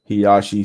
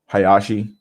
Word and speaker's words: Hayashi: Hiyashi. Hayashi. Yeah, Hayashi. That's how you say it.